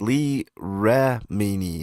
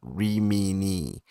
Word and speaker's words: Remini: One last thing, it's pronounced Lee Remini, not Remini.